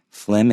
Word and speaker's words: phlegm: is phlegm and how do we spell phlegm phlegm is pH l EG m watch out for